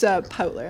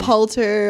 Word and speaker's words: Poutler: Wait, what's the wrong way to say it? L first before T. Poulter or Potler or...